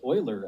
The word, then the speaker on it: Euler: It's pronounced Euler, actually.